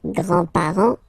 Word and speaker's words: grands-parents: Remember, you don't pronounce this final S. Here, grands-parents, okay?